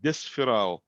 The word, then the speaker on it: Desferal: Like in this case will be like Desferal.